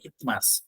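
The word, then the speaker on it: isthmus: ফান্ডাস body ইমাস সারভিক্স মাস শব্দটা অনেক জায়গাতে পাব এটা উচ্চারণটা সাইলেন্ট থাকবে টিএইচ এর উপর জোর করবে খুব সফট করে বলতে হবে ইতমাস ইতমাস মানে হচ্ছে যে কোন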